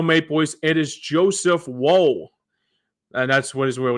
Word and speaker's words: Woll: And for the Toronto Maple Leafs, it is Joseph Woll. And that's what his real name is. I'm not saying whoa, that's crazy.